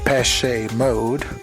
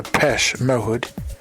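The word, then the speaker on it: Depeche Mode: a group called uh the pese mode or the pesh mode uh depending on how you want to pronounce it um in which the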